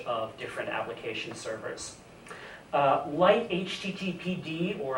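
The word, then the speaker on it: lighttpd: different application servers uh light httpd or I think Lighty as it's usually pronounced is uh similar to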